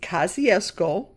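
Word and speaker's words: Kosciusko: Pronounced kaziesco like the park and the middle school in the old neighborhood.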